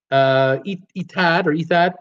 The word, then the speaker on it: Etihad: I pronounce it Etihad. That's correct.